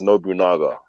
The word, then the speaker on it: Nobunaga: as he said it that's not how you say it's Nobunaga nobody not oh sorry my